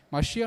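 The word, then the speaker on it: משיח: costuma falar também o Machia, né? Machia nada mais é do que a pronúncia em hebraico de Messias.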